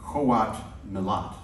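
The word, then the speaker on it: Qowat Milat: Evan, your character is a member of the, and I want to pronounce this correctly, the Coat Nalat. Well pronounced.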